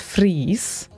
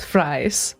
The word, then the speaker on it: Fries: tess is swedish so her name should be pronounced as freeze not fries but names are different